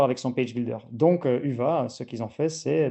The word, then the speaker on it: Hyvä: Donc c'est un site en Côte d'Ivoire, c'était notre premier UVA, donc déjà 2021 donc ça se prononce en effet UVA.